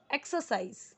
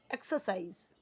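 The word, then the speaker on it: exercise: We should एक्सरसाइज, एक्सरसाइज नहीं एक्सरसाइज, ये are silent में जाना चाहिए।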